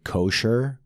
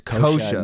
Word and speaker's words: Kosha: I get visibly upset when people say kosher with a hard R. Oh, yeah. And that's the name of the episode, with the hard R. Don't say my name with a hard R. It's kosha, not kosher.